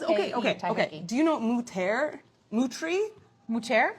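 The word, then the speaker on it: Moutere: Mutri? Muter? Muter is Mutri. That's how Oh. you say it.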